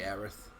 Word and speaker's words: Aerith: I always say Aerith. I grew up with Aeris, so it's just kind of like, I like that sound at the end of it.